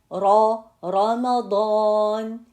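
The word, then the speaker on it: رمضان: Like for example, we say Ramadan. Ramadan. See, here is Fatha on the Ra, so it's gonna be heavy.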